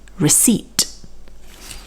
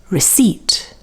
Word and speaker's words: receipt: this which is a receipt now here the p is silent and you can see that the stress is on the second syllable receipt one more time recipe